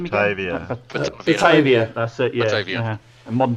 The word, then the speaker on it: Batavia: How do you pronounce that name Batavia. again? Batavia, that's it, yeah.